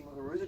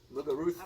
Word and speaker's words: Muguruza: Hate the way they pronounce her name. Muguruza. I mean, I'm Spanish and I don't go Muguruza. But anyways.